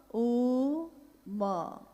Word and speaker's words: ओम: अगर एक साथ सुना जाए उसको तो उसकी आवाज गूंजती हुई ऐसी है जैसे हम बोलते हैं या उच्चारण करते हैं तो हम कहते हैं ओम, है वो अ उ म, यानी उत्पत्ति, स्थिति और